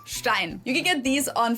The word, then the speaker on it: Stein: But either way, this word is pronounced stein.